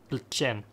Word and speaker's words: Plzeň: It's brewed in Plzeň, Czech. I think that's how it's pronounced. Plzen with an tilde on the N.